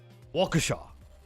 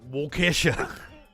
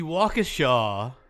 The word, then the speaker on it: Waukesha: time Waukesha kept saying well Kesha like like you like Kesha the the musical the musical singer it makes the the